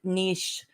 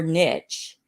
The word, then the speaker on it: niche: I do too, because in the South we kind of say niche, like Yeah. hitch your horse, niche it. But the It's your actual horse. word niche your horse is niche. It is French, so that's Yes. correct pronunciation according to the Académie Française, right?